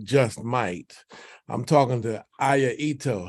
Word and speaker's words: Ito: I'm talking to Ito. How are you doing? Am I pronouncing your name right? Yes, you Ito. are. Yes, thank you so much. Yes, it's Okay. Ito.